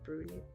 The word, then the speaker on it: Brunei: country and a lot of the people in brunei brunei are actually malaysians i see because